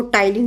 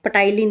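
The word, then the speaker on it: ptyalin: Enzyme होता है सलाइवर enzyme इसका नाम है सलाइवरी अमाइलेज या इसको टाइलीन एंजाइम भी कहते हैं। पटाईन नहीं बोलना है। पटाना नहीं है। टाइलीन ये पीसाइलेंट है यहां पे।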